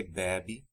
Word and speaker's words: bebe: And the A sound in bebo or bebemos is pronounced é. So it sounds like você bebe, ele bebe, vocês bebem, eles bebem. So from A to é, você bebe.